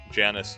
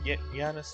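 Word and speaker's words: Janus: I'm always gonna pronounce it Yanis. I'm sorry. Janice, Yanis. I'm always gonna go. I'm just gonna go for the elongated J on that. His only friend, other than his sister, is that cat that follows him about.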